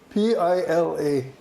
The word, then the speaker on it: Pila: It's over there someplace, which is Bill, and Hawaiian pronunciation is Pila, so you'll hear people